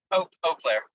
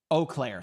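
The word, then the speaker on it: Eau Claire: south of Chipoa Falls in Oaklair. Right, Capuchi? I'm pronouncing that right? Yep. Oclair. Oakclair. Thank you, Erica.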